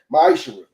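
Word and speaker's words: מעשר: Means tenth in Hebrew and is pronounced ma'ishra.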